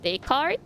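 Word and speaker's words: Descartes: Vicki writes a pronunc pronunciation like Daycart. Oh, it is just daycart. I see.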